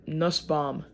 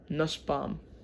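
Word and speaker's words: Nusbaum: businessman named Aaron Nus Nusbomb. I think that's how you say it. It's B. It's n us u b a u m nusbomb. That's this is how I say it.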